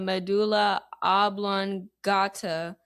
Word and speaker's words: medulla oblongata: C, the medulla oblongata, or D, the thalamus.